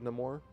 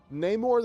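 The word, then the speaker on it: Namor: a Spanish accent but he's supposed to be it's supposed to be said no more Ney more neyar the Submariner sounds better because you pronounce the you you rhyme the Submariner with neore that part of it Rhymes that's why if you try to say neore the Submariner doesn't sound very good but neyar the submariners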